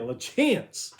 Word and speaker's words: LaChance: LaCap, how you say LaChance. That's how you say it, LaChance.